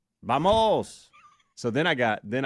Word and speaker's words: vamos: this for us but you're wrong it's actually pronounced b b b coach it's it's bamos it's bamos bamos so then I got then I got Arrogant